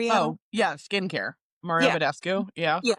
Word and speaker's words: Mario Badescu: Mario Badescu.